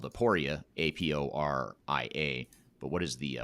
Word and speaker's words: Aporia: last name is hasten h-a-s-o-n and the company is spelled aporia a-p-o-r-i-a but what is the website address if